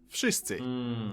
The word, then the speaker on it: wszyscy: W in wszyscy should sound like wy, wódka, wojna, but it seems to soften up to an F, wszyscy.